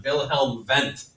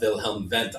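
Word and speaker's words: Wilhelm Wundt: our case study on vilhelm vent I love vilhelm vent I like German words in general because the W's are pronounced like V's vilhelm vent how can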